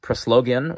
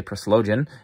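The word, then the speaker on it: Proslogion: moses maimonides here more anselm is proslogen or some people say perslogen with the replies of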